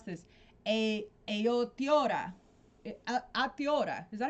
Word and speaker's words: Aotearoa: I would love to talk to Stu because Stu is from, and I always mispronounce this, Aotearoa.